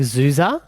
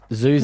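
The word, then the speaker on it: Xuxa: Oh, is it like Zuza? XU. Do you know how X's can be Z's?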